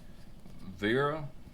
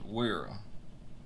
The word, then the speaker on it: Wera: i've heard it pronounced vera and i've heard it pronounced wiera well i'm a south georgia redneck so i'm going to say where i said i typically say stuff how it looks but man let